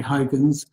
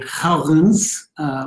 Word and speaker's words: Huygens: of his name so people in english tend to say huygens um the dutch uh say helgens which is why the english don't and my brother reminded me that there was a physics teacher at highgate school who was french who called him wigans so um any pronunciation